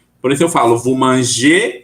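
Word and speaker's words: mangent: Apesar da gente escrever ENT no final, a gente não pronuncia igual ao singular.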